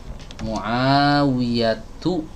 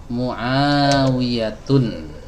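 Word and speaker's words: معاوية: Muawiyatu, bukan Muawiyatun ya, bukan Muawiyatun tapi Muawiyatu ya.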